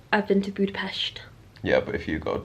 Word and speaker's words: Budapest: it's the peshed part of Budapest because it's pronounced Budapest he was very clear about that this morning